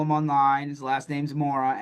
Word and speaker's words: Mora: And Andrew, if you want to follow him online, his last name's Mora, Mora.